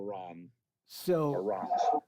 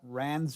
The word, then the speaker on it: Ranz: that but uh anyways r-a-n-z uh is just the sound of like for ron so so the the proper pronunciation there is not rand's free hands but ron's free hands by what by